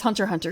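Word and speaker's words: Hunter × Hunter: that or rather it's Hunter Hunter isn't it the X is not pronounced I have to get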